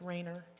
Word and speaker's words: Rainier: The kids, it's spelled Rainier, but he was pronounced Rayner.